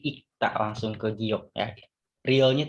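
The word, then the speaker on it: 읽다: Nah, ingat, ketika dia satu seperti ini dibacanya bukan ilkta ya, tapi ikta langsung ke giok ya.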